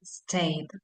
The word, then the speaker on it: stayed: Este es como que termina, si bien termina en ed, sí, vamos a pronunciar más que nada la D, stayed, Bien, profe, bien.